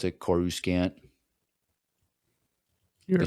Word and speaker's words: Coruscant: under Coruscant.